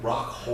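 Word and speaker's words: Rockhold: you're mispronouncing his name. It's Rockhole.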